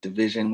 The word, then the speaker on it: DVSN: all social prep platforms at division which is spelled dvsn okay perfect well one